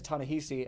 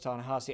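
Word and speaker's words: Thanasi: tanasi tanasi because I I read it as tanesi and I know it's tanasi and there's just there's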